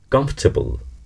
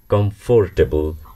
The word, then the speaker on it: comfortable: নয়, এটিকে আমরা বলবো কমফর্টেবল। ইটস নট কমফোর্টেবল, ইটস কমফর্টেবল। I don't feel কমফর্টেবল here.